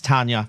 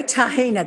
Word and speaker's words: Tahina: I'm assuming it's Tanya. Tanya. She is a Tossie. She's an international model. Tahina. Pardon? Tahina Tossie. Oh, there you go. Tahina, that's how you pronounce it then.